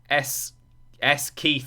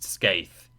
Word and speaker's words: Skaith: S Keith 480, which is not how it's pronounced, then had to spend an extra 100 blips to make me understand that it wasn't some strange reference to like a TV show that I've missed. It's just pronounced Skaith.